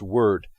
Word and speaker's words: wyrd: This is the WYRD version, although sometimes in the game it's pronounced word.